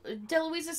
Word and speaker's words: DeLuise: DeLuise.